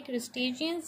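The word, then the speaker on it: crustaceans: ठीक है, आगे आता है हमारे पास क्रस्टेशियंस, ठीक है, इसको भी प्रोनाउंस करेंगे क्रस्टेशियंस जिसमें क्रैब्स और लॉबस्टर्स होता है।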